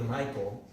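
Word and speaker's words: Mycol: And I've always loved the way that there's a alternative comic in Peru called the Submundo de Michael, and it's spelled with M-Y-C-O-L.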